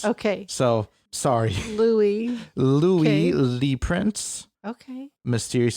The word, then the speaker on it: Louis: So his name is either Louis or Louis. Okay. It's spelled Louis, but he's French. Okay. So, sorry. Louis.